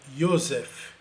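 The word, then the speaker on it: יוסף: que ainda existe em vários países árabes, é pronunciado como Yosef.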